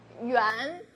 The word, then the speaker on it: 元: Yeah, the English is sweet dumplings, but I don't think it's very proper, because yuan, it's share the pronunciation with round, because this food, we make it round and made of sticky rice, and there's some filling inside.